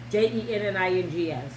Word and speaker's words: Jennings: No T. No T in it. Okay. Spell it. Jennings.